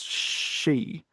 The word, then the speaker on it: Xi: So if someone's name is shi, it's sh. If their name is xi, it's she.